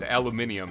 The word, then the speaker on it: aluminium: There is actually It's aluminium is how they pronounce it, like in England and stuff, and that's because that's kind of how it's supposed to be pronounced.